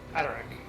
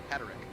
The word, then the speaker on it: Haderach: Up next How do you pronounce it again? Haderach. Haderach.